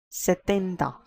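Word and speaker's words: setenta: 70 is called as satenda.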